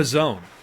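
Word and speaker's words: P'Zone: How do you actually say it? The Pizzone. The Pizzone. The Pizzone, yes. P''Zone. Ben Wallace named the Pizzone. For those of you who have ever had a Pizzone, thank Ben for that.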